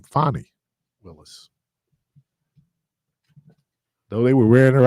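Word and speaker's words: Fani Willis: and and yeah so and again let me pronounce her name fonnie Willis though they were wearing her out on on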